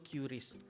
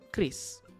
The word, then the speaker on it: QRIS: Masalahnya kasir tersebut mengkoreksinya dengan cara yang salah yaitu curious. Nah, ketika disodorkan video ini harusnya kasir tersebut sudah mulai mengerti bahwa cara pembacaran yang benar adalah Kris.